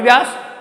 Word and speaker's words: व्यास: From the Ravi व्यास, BEAS आती है व्यास की स्पेलिंग, है ना, उसको 20 बोलते हैं वैसे हिंदी में।